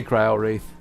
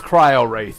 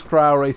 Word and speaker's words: Cryo Wraith: sorcery garden now hey Crow wreath sit sit here it's cryo wraith okay just pronounce it as cryo race and move on with